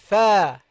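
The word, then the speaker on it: ث: The tha, the letter tha. It's like the ta, only you produce it by putting your tongue between your teeth.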